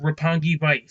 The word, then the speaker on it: Roppongi Vice: Going into the Rampage side of things, the Young Bucks beat, how you pronounce it? Roppongi Vice.